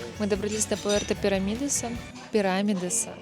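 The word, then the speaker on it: Pirámides: Мы добрались до Пуэрта Пирамидеса. Пирамидеса. Господи, когда я научусь правильно произносить. Всё, один раз запомнила пирамидес. Хочется сказать пирамиды, пирамиды.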